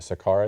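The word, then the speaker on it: Sakaar: Sakar I think or scar that's correct. S A K A R I can't pronounce it.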